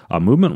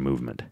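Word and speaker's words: MVMT: and free returns from movement how you asked I thought you'd never ask you got a movement calm but it spelled like this M the M T calm so you got to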